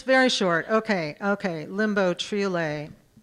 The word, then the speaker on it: triolet: Limbo Triolet. And now I know how to pronounce that form.